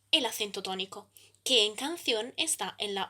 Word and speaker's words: canción: La división en sílabas es entonces canción. El acento tónico está en la última sílaba.